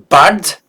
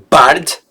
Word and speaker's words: bald: Wir werden bald ankommen. Wir werden bald ankommen. Et pas bald, comme un T à la fin.